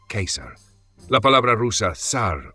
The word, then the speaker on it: Kaiser: de Austria-Hungría fueron llamados Kaiser, ortografía alemana y pronunciación correcta en latín, Kaiser.